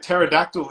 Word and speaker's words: pterodactyl: but for those interested pterodactyl is spelt p t is it r o yeah there's a p ah see that's why